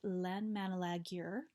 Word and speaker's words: Landmannalaugar: and I did a three-day hiking trip in landmannalaugar that is actually how you pronounce it and yeah I did a hiking